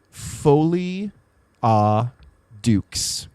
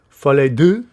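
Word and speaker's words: folie à deux: Oh my God, you said it in the most American way possible. Well, I think that's part of the problem. Folie Duke? How do you say it? Folie Duke? Folie Duke? Folie deux.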